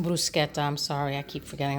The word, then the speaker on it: bruschetta: salad on a sandwich making bruschetta actually it's pronounced buscetta I'm sorry I keep